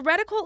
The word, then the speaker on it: Retinal: The Retinal. That's how it's pronounced.